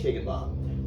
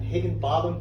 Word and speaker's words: Higginbotham: Higginbotham, specifically Higginbotham. Now, did I pronounce that Higginbotham? Did I get that correct? You got it right. Not two T's, T-H-A-M, Higginbotham. Botham. You got it.